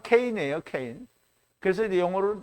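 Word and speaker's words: Cain: 자, 이제 걔는 가인이라는 말은 이제 이게 발음대로 하면 케인이에요, 케인. 그래서 이제 영어로는 또 카인이라고 하고 또 발음을 할 때 카인의 후예 뭐 이렇게 얘기를 하잖아요.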